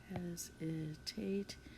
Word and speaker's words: hesitate: Hesitate. This E is making the A say A, and the S is saying Z, hesitate. At the end of a syllable, the S often says Z.